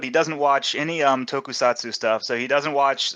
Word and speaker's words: tokusatsu: big fan of that I I will not pronounce it right tokusatsu how do you say that tokusatu you got it right yeah tokusatu kind of genre that feel that Vibe uh